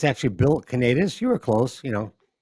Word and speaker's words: Kanatas: Uh, it's actually Bill Canadus.